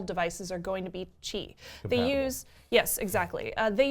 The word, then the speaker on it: Qi: most devices support Qi which is Qi it's pronounced Qi it's supposed to be like who are the